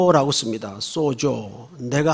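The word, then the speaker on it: σῴζω: 하면 소 라고 씁니다 소조 내가 한 턱 소조 이런 말이 아니고 헬라 발음이 그래요 쏘 조라고 표시를 해요 그런데 그 앞에 디아라는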